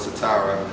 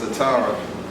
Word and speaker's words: Satarra: I'm with Satarra. I said it right? You actually did. I did. Taking some points. Satarra.